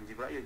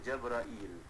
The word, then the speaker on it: Jabrail: Bersalah tak betul sebut Jibrail. Bukan Jibrail, Jabrail. Tak ada Jibrail.